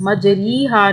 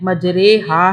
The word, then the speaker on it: مجریہا: الف زبر ہا، مجریہا۔ اس کا تلفظ مجریہا نہیں ہے، مجریہا ہے۔ اب یہ ہے یبسطو